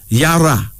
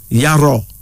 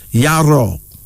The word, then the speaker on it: Yaro: Then there's Yara. Actually, Yaro. Yes, Yaro. Y-A-R-O, pronounced Yaro.